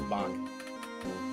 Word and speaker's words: Bach: Oh my god, it's Bach. I said Bach's name wrong.